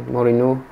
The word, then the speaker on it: Mourinho: That is interesting philosophy if you think back when Mourinho, how to pronounce it properly? Mourinho.